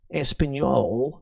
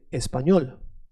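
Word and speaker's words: español: tongue when you say the letter L is not a thick L. It's a is a soft L. So it becomes L. Not L but L. Espanol.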